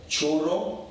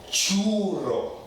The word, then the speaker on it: churro: If you said churro, wrong. It's churro. Churro.